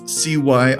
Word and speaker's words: Cyriss: The cult of Cyrus, and I'm pretty sure I'm pronouncing that right, it's Cyriss.